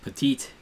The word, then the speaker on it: Petit: Yusmeiro Petit. I've been watching the Angels a little bit, so I found that is pronounced Petite.